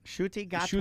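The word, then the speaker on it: Ncuti Gatwa: You don't see the NC in his name. You pronounce it with a shu. Shuti Gatwa. Shuti Gatwa That's is a great the 15th name.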